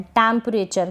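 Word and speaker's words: temperature: म पढ़ रहे हैं, टेम्परेचर। क्या पढ़ रहे हैं, टेम्परेचर, टेम्परेचर। ये जो चर है क्या है, TUR, इसको चर पढ़ रहे हैं।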